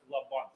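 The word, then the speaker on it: Laband: из учителей ми Пау ударение на первое наверное лабан лабан лабан лабан Пауль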